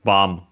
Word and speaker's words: bomb: then yeah of course because it's written bomb in English but yeah actually pronounced bomb without the B.